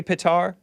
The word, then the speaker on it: Petar: Am I pronouncing it correctly, PETAR? Yeah, Hake, your pronunciation is good.